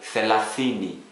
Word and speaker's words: thelathini: Then we also have TH, as in think. A Swahili example, thelathini, 30, thelathini, 30.